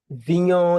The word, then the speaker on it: Vignon: Vignon is like filet mignon, but when you replace the M with a V, then that's the best way I teach people how to say it.